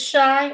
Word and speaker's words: Shai: name uh Shai oh it is shy or a shy